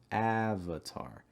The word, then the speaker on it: avatar: middle of your tongue for that a sound avatar avatar those other syllables in avatar are schwa sounds so you want to relax your mouth and make sure that your front of your tongue is a little bit raised avatar avatar the